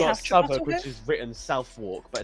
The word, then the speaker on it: Southwark: Do we have Southwark, which is written Southwark, but it's pronounced Southwark?